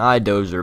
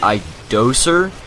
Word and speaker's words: I-Doser: no not bulldozer and i dozer but the way he pronounced it i guess it's i doser but people pronounce it